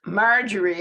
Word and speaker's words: Marjorie: It's Marjorie, accent on the first syllable.